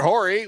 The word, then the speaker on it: Horry: I believe the H is silent, Jeffrey. Horry? Yeah, nope. You don't say the H.